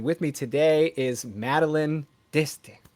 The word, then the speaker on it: D'Este: as always and with me today is Madeline Dy how are you good how are you I had to do that just because we just discussed this um